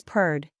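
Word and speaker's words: perd: purred it means horse you take the word pen and then take the N away and it is p it is the same as the first two letters in purred then you pronounce the letters Rd the way you normally would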